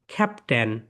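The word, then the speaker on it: captain: ক্যাপট এখানে আই I silent I কি বলতো সাইলেন্ট ক্যাপ্টেন ক্যাপ্টেন ওকে ক্যাপটেন না আই থাকবেই না তাহলে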